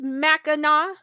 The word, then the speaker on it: Mackinac: Honey 2800 goes, it's pronounced Mackinac.